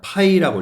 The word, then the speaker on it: π: 이거 읽을 때는 뭐냐? 파이라고 읽어. 파이.